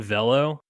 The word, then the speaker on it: Velo: There's a guy, I didn't know this player, Kevin Velo, VEL-LOH, in parentheses, rhymes with jello.